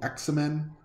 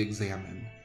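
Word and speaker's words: Examen: i think i first heard it called the x-men or i just looked at it and it's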